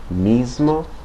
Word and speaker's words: mismo: m and d the S can have more of a z like sound like in the English pronunciation of Lisbon okay examples in Spanish mismo and so it's more of a z sound miso okay um T the